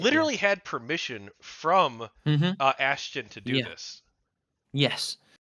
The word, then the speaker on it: Ashton: Is that how you say his name? It's been a long time. Ashton Liu, I think, is his name. Oh, Ashton. Sorry, Ashton. Ashton. I heard it completely wrong then.